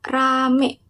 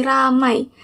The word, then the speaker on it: ramai: Nah, yang ketiga yaitu pada kata rame yang mana seharusnya kata rame itu diucapkan menjadi ramai. Nadia Omara menyebutkan kata ramai menjadi ramai dengan mengubah bunyi vokal diftong i menjadi bunyi vokal e.